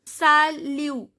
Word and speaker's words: salut: So salut, T is not pronounced. I am not pronouncing the T.